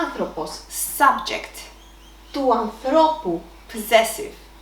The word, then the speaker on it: άνθρωπος: Ο άνθρωπος, subject, του ανθρώπου, possessive. Ο άνθρωπος is a masculine noun with 3 syllables and the accent is on the 3rd syllable from the end.